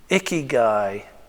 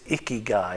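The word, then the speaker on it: ikigai: I've heard him speak a few times and and the word is icky guy if I'm pronouncing it correctly.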